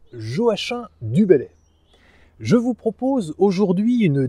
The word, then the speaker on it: Joachim du Bellay: Et oui, on prononce bien Joachim du Bellay.